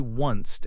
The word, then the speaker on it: honest: The letter H is silent in words such as honest and hour. You say onced and hour.